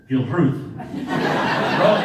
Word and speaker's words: Gilruth: You get discounted drinks if you walk up to the bar and you say, Gilruth. Rolling the R, emphasis on the second syllable, and I'm putting on a bit of finger food over there.